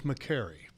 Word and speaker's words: McCary: No. It's a care. He cares. I care. Yeah, see? McCary. Look at that. I like that. Yeah, names. Fun with names. I care about how his name is pronounced. It's McCary. So, all right, you're going